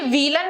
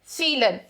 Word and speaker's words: vielen: ठीक है, vielen में जो ये वी है, इस वी की प्रोनाउंस आती है एफ, फ. ये vielen नहीं है, vielen.